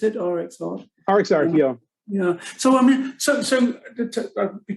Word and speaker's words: RxArt: Is that how you pronounce it? RxArt? RxArt, yeah.